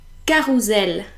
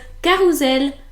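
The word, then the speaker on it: carrousel: wrong oh never mind it's meant to be carusel because it only has one s but everyone that I've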